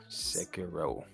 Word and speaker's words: Sekiro: I mean, pronounce this Shakiro, Sakuro? S- Sekiro.